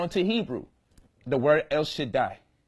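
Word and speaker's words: שַׁדַּי: When the Daleth and the Yod get together, it pronounced a long I sound. So you get Shaddai.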